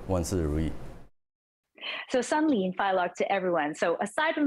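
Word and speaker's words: 新年快樂: That's Sunlin Fai Lok in Cantonese, or Xin Nian Kuai Le in Mandarin.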